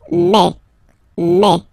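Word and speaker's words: mai: so really open E okay and then you pronounce it me me okay so don't pronounce e don't try to pronounce it no it's me me so it's not my it's me okay and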